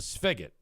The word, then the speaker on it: spigot: That's a spigot. SP ph. Am I pronouncing that wrong? Yeah, I think I am. It's uh spig a spigot.